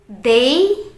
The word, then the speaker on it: they: jadi perhatikan kata Day kalau teman-teman melihat t sama h dalam bahasa Inggris itu suara Dal suara dal dalam bahasa Arab Jadi dibacanya t bukan Z ya tapi d sekali lagi they them